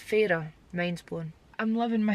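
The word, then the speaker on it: Feyre: And then the last one for now, Fair. F-E-Y-R-E. Fair. No, it's Farah.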